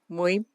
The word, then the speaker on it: Mbui: Muy? Muy, yeah, the M is silent, so.